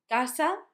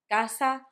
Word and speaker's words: casa: So, if it's followed by A, O, U, it will make the sound K. So, Ka, Ko, Ku. You will see that in the words casa, barco, cuna. Doesn't matter where it goes in the word, as long as C is followed by A, O, U, it will make the sound K. Casa, barco, cuna. When we mix C with